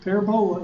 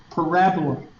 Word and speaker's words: parabola: She said, now, Hubert, she said, I know you're from around here, but parabola is not the way you pronounce it. It's parabola.